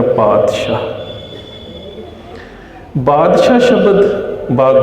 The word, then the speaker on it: पातशाह: पातशाह शब्द अरबी भाषा दे विच आउंदा है, उस तो बाद फारसी च आ जाता है। इसका मूल उच्चारण है पातशाह। जदों ये पंजाबी भाषा च आउंदा है तो असीं इसका उच्चारण तत्ते दे नाल करते हैं पातशाह।